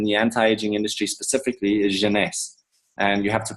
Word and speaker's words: Jeunesse: anti-aging industry specifically is Janice. And you have to pronounce it like that. It's French for youth. Janice if anyone was wondering. I have some people calling it Genesis.